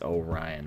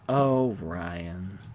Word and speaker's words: Orion: course well of course they're pronounced Orion right my name is Ryan and Orion is Oh Ryan Gemini thank you very